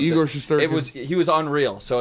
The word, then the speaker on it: Shesterkin: I mean, Shesterkin, right, is how you pronounce Igor it. Shesterkin.